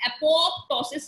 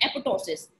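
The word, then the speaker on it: apoptosis: नाउ एपोटोसिस, एपोटोसिस का मतलब programme cell death, एपोटोसिस, अच्छा इसको आप एपोप्टोसिस नहीं पढ़ेंगे, इसमें पी एक पी जो है वो साइलेंट है, तो इसको हम पढ़ते हैं एपोटोसिस।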